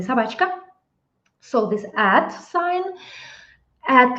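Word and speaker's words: собака: sabka this ah Sab in Russian we say sabka so this add sign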